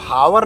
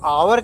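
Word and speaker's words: hour: तो हावर न कह के हम इसको आवर कहते हैं। तो आवर के पहले हम एन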